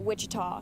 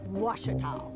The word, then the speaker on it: Ouachita: Back in Texas, everybody pronounces it Wichita, but really, it's Ouachita. Washita.